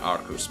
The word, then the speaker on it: Arceus: And so I haven't been doing it as much for Arceus, Arcus, because I didn't want to have to explain it too much, but I probably should pronounce it Arcus more often.